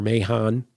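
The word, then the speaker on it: Mahan: And we even have later where, Cain slew Abel, and he says, I'm Master Mahon, as in Master Mason, it rhymes with that.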